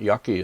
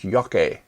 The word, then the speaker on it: rokusho yake: Rokusho is green pigment, yaki is burning, green pigment burning. I should correct my mispronunciation. It's yake, not yaki.